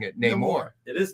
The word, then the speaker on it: Namor: You're mispronouncing it. Namor. It is Namor.